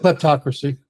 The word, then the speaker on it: kleptocracy: klepto how do you say that klepto kleptocracy kleptocracy excuse me uh so that the